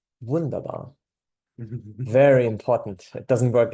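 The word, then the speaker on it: wunderbar: it right good enough the German vaba not really vunda it's more vundabar not vundabar uh I just can't get over the fact that in German you have to say it like this vundabar very important it doesn't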